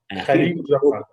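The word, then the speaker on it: Kahlil Gibran: How to pronounce his name? Do you know him? Khalil Gibran.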